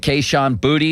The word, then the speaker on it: Kayshon Boutte: Less than a year after getting drafted by the Patriots, LSU receiver, is it Kayshon Boutte? Is that how you say his name? Yeah.